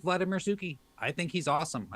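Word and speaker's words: Suchý: When something comes out, it's like, oh, look, it's another Suki. Also, up until about 3 weeks ago, I called him Vladimir Suchi.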